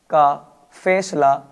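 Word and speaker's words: calf: mummy यानी मेरे दादा का फैसला इन एम डी के एफ चार वर्ड्स से पहले कभी भी आपको एल लिखा हुआ मिल जाए तो ये साइलेंट रहता है जैसे एम से पहले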